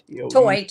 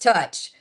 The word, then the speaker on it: Teutsch: Um as you can see it's t e u t s e h but it is not pronounced toyed. It's pronounced touch.